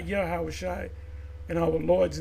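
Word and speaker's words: יהושע: well Joshua is uh yahawashi Moses second and command Joshua in the Hebrew is yahawashi one of the Kings of Israel HOSA his name in the Hebrew is hawashi not yahawashi and our lord's name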